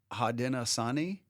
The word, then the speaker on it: Haudenosaunee: I think that Garrison put a really difficult native name for me to pronounce in there on purpose instead of Iroquois. I changed it to Iroquois. Is it Haudenosaunee?